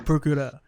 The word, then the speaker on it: Procureur: It's quite tricky to say Procureur, but it's fine. Procureur.